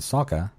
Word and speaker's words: Sokka: In the dialogue between Han and Sokka, Han pronounces Sokka's name incorrectly by elongating the O, which is the Asian pronunciation and how it was pronounced in the film, The Last Airbender.